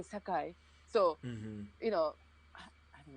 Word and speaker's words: Sakai: hard but if like when i ask you guys to pronounce sakai you know automatically like your face started to change like a japanese person because you don't say sakai please sakai you know it's like you say sakai you know like they